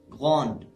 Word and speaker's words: grande: So the E let all the letters before it to be pronounced. We pronounced the D, we pronounced all the letters in the word. So it is grande, grande.